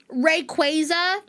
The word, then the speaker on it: Rayquaza: Sorry, let me pronounce it correctly. Rayquaza. Rayquaza. I'm sorry. I'm mad. I'm so mad that this that is technically the official pronunciation cuz I've always said Rayquaza.